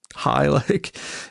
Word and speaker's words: Hii: Get it? High, but it's spelled Hii.